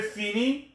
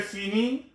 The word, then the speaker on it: finis: The ENT is always silent when it's used with a verb in the present tense. Ça va? Très bien. So, je finis, S. Tu finis, S. Il, elle finit. SST will not be heard.